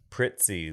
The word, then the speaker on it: Prizzi: Prizzi, like you're adding a like T. Pizza. You're adding a T. So Prizzi's honor. How do you say Pizza? Pizza. So Prizzi. Prizzi. Pizza. That Prizzi. is not the same sound. It has IZZ in another vowel.